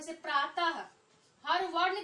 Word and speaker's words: प्रातः: तो आप क्या ध्यान देते हैं, अंतिम में क्या चीज आता है, ह। यानी विसर्ग जब हम बोलते हैं तो उसमें अंतिम में क्या, ह, उच्चारण में ह आता है।